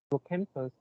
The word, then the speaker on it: hippocampus: About the hippocampus, how do you pronounce it? You pronounce hippocampus, but the stress is on the third Yeah. uh, It's on the campus.